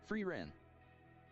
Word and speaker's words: Frieren: SHP said, "Frieren." Is that how you say it? SHP said, "Yeah, that's it."